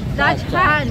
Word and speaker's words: Dachshund: How do you say that ba? Dachshund. Ganon.